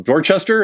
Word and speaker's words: Dorchester: Excuse me if I'm pronouncing it wrong. Dorchester, is that the neighborhood you're in? Dorchester, yes.